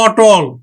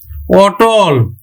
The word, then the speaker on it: অটল: অ ধ্বনিটা যদি আবার নেতিবাচক অর্থ দেয় তাহলে কিন্তু সংবৃত উচ্চারণ না হয়ে বিবৃত উচ্চারণ হবে যেমন অটল অটল অমর অমর অটল অমর